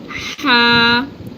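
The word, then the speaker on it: ح: The next one is ha, ha. This is a spicy letter, just pronounced from the central part of the throat and like pushing air back, like out, like ha, ha.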